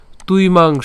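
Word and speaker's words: ত্বিমাং: আমাদের অন্তস্তব আছে, আর অন্তস্তবের উচ্চারণ আমরা জানি উর মতো হয়। তাহলে আমরা যদি উচ্চারণ করতে যাই এটা ত, এরপরে হচ্ছে কি বয়ের সাথে রসিকার আছে, অর্থাৎ উই সাথে হচ্ছে উর সাথে রসিকার আছে। তাহলে আমরা যদি এটাকে যদি একসাথে উচ্চারণ করি তাহলে হচ্ছে তুই, হ্যাঁ।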